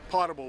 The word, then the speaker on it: potable: Water by the way how do you say it is it pable or potable potable water potable okay yeah potable water so